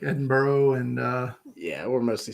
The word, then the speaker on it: Edinburgh: you're like me you want to call it Edinburg but you're gonna get in trouble is it edinb there it's Edinburgh yeah oh okay well that's that's easy enough